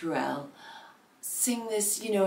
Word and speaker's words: Ruelle: the original artist and I think her name is pronounced Ruel sing this you know